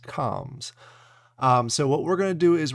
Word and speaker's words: Combz: comms and yes yes every single weekly review I've been saying it wrong is pronounced comms um so what we're